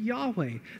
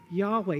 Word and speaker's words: Yahweh: the best we can the name of god was y-h-w-h it's like the sound of breath that sort of idea now in order for english speakers and people to be able to pronounce his name we call him yahweh that is the name